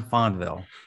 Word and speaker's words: Fonville: uh juanito fanville john fonville oh his name rhymes with john fonda wow this is amazing